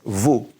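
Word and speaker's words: vous: now this means you plural so everybody say vu vu now also vu can be one person if you're showing respect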